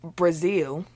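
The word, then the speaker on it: Breazeale: Deontay Wilder against Dominic Brazil is not spelled like the country but is pronounced the same yes which led to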